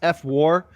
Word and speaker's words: fWAR: And that's pronounced F-War, Devin.